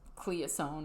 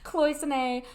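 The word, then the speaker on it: cloisonné: Egg style pieces um cloisonne which I often when I'm moving between languages will pronounce cleosone or like I do it phonetically sometimes but cloisonne Russian Faberge eggs again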